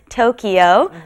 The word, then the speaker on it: 도쿄: is not that word this the japanese pronunciation right is tokyo so tokyo nin again